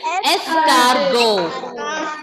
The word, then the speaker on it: escargot: Ending letter T will be silent. Escargot.